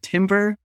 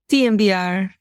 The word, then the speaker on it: TMVR: as the expert is do you pronounce it Timber or tmvr tmvr thank you TV you consider